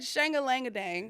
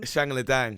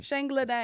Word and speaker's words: Shangla Dang: I said Shanga Langa Dang. No, but fine. Whatever you want to go there. That's the Yank pronunciation. Yeah. So please say that again. Shangla Dang. Shangla Dang.